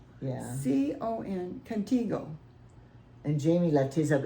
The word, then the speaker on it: Contigo: Cognito? Contigo? Canita? T, Tygo. Is it her G? Yeah. C-O-N, Contigo.